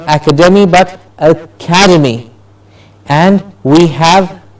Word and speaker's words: academy: Like academy. Yes, the word ACADEMY, academy. Academy. Not academy, but academy.